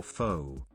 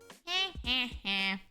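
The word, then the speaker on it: phở: be called Friend or Foe it's F why is your name theme sickle almost why AR actually guys it's actually pronounced a f and not pronounce as fo yeah a little bit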